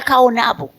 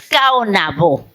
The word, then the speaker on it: Caonabó: De manera que no era Caonabo, así suena en español, es Caonabó, igual que otros nombres.